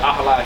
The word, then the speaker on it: Ahlai: Yeah, Ahlai.